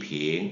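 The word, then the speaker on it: 瓶: 그래서 한 병 그러면이 빙 이런 식으로 해서 병을 세는 단위는 중어로 빙 끌어올리면 되겠고요.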